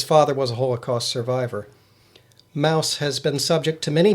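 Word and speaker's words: Maus: to admit that I haven't read it it's Mouse that's spelled m a u s I haven't read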